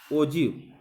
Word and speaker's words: ogive: जैसा कि यहाँ पे देखिए, ये ओगिव को जो है प्रोनाउंस जो किया जाता है ओजिव, ठीक है।